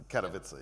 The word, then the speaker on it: Katowice: It's Katowice, yeah. Katowice, right? So yeah, I'm trying not to pronounce it wrongly.